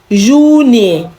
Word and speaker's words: Juni: Juni. Remember, J is not pronounced J in German, okay? Juni, not Juni, okay?